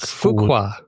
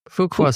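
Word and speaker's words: Fuqua: Um the se the CMO survey spring 2025 um with Deote Duke, how do you pronounce Fukqua? Duke Fukuqua. Fukuqua School of Business.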